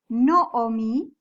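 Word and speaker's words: נָעֳמִי: entr velaron las palabras noomi es tiene un catatan catatan que se pronuncia como una O es un kamat pero se pronuncia como una no omi entonces besem isto y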